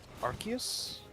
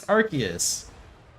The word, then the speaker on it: Arceus: I think originally it was meant to be Arceus, but then it sounded like the British word for butt. So then they're Yep. like, it's Arceus.